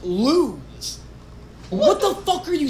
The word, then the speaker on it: Luz: People are like, it's not pronounced lose, it's pronounced lose.